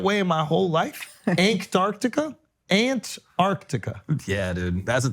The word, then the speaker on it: Antarctica: I heard him say that we go to Antartica did you say the N word dude at the end of it he did set Antarctica am I saying it right I you slip